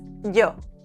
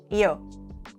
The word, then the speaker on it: yo: In Spanish, it's yo, not yo. Yo, yo. Yo, yo, yo, yo, yo. Yo me llamo Lucía. Repeat. Yo me llamo. Yeah. But beware. In places like Argentina or Uruguay, this sound transforms into a sh sound.